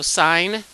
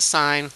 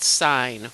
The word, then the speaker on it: sine: trig functions are the trig ratios are so sine we we pronounce it sine we have reavie a like this it's not sin it sign we say sign and we used its opposite